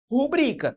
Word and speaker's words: rubrica: Por exemplo, a palavra rubrica deve ser pronunciada rubrica, tal, o qual está estabelecido aqui no nosso exemplo, ó, rubrica, sendo esta palavra uma paroxítona.